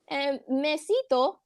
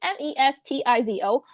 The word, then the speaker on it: Mestizo: as its Spanish and Mesito, can't even pronounce the word, but it's Mestizo, white supremacist leaders have done in this region throughout history.